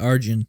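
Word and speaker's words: Arjen: Yeah, Arjun.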